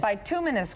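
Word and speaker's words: bituminous: I want to make sure I pronounce it right. By tumminus buminous coal queens of Pennsylvania our documentary that my husband directed.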